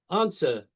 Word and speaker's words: answer: Answer. Why does it have a W in it and you don't pronounce it? You don't say answer, but there's a W in answer.